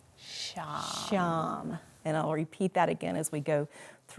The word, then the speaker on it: Sham: And the mantra that we're going to be using today is pronounced Sham. Sham.